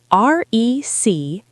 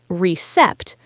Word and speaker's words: receipt: R-E-C-E-I-P-T. It has a letter P in it, but we do not pronounce the P. We don't say recept, we say receipt, like taking a seat.